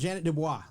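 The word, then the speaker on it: Ja'net DuBois: up yeah Jefferson's Janet Dubois sang the original Janet Dubois that's how you pronounce her name actually yeah and she was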